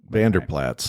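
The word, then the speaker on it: Vander Plaats: Warriors yeah Bob Van it's not putts it's Vander plats plats yeah Bob Vander plats I don't really know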